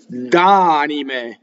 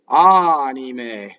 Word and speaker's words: anime: Okay, d'anime. What I hear in this word wrong, the N's and the M's become double when somebody isn't careful.